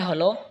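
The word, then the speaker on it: حاء: হা হলকের মধ্যখান হয়তো উচ্চারণ হবে হা। হা বরহা হা।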